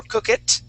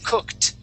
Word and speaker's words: cooked: he read these words he did not say cooked okay or cook it okay because of that T he said cooked and he went straight to the T sound cooked stopped okay not